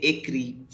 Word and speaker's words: écrit: So you have to write it as j'ai écrit. J'ai écrit. This T would be silent in this case. Écrit only. ECRIT will be pronounced till I only. This T will be silent.